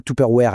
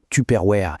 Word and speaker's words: Tupperware: On ne dit pas Tuperware à l'américaine. Non, on dit Tuperware.